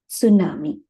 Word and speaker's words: tsunami: the English way but originally it is a Japanese word so when you pronounce this in Japanese you will use it tsunami it's a Japanese wordi Su will be pronounced as it Su itself right so that is and this looks like a wave the font looks like the way tidle right so it is easy to remember also right s only thing the pronunciation should be should be with the T tsunami right so so we